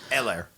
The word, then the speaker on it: Helaire: Eller. Okay. Yeah, the H is silent.